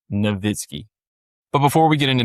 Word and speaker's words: Nowitzki: I want to say Nowitzki, but I think it's pronounced Nowitzki.